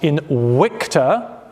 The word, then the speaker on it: Invicta: horse with the motto Invicta and it is pronounced in wicta written underneath this is